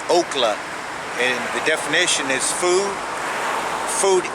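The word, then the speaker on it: אָכְלָה: That's Strong's H402, and the pronunciation is okla, and the definition is food eating, object of devouring, consuming.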